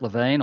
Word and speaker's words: Lewin: in the field is Kurt Lewin, or Kurt Lewin, is depending on your pronunciation.